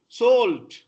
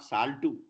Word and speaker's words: salt: Salt, not saltu. Salt, salt, salt.